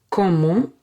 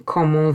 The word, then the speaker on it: comment: You can also ask how are you differently by saying comment vas-tu?